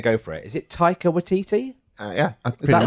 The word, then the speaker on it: Taika Waititi: Is it Taika Waititi? Yeah. Is that right? That's what we've been going for. Waititi, yeah. Taika Waititi. Yeah. I think that's how I heard it said, but Taika Waititi.